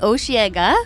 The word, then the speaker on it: Osheaga: Yeah, so no, it's Osheaga.